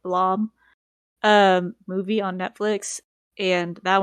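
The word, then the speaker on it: Blame!: I know that there's the Blame, or I think it's pronounced like Blom, movie on Netflix, and that one didn't look very good.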